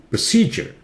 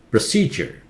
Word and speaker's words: procedure: Here, D-U-R-E takes the sound ger. Procedure. Procedure.